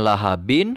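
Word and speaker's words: لهب: Kemudian pada kata lahabin, huruf terakhirnya adalah huruf ba yang berharokat tanwin kasroh, bukan tanwin fathah. Maka ketika waqaf, ba-nya ini pun harus disukunkan. Yang ditulisnya lahabin, maka ketika waqaf harus dibaca lahab.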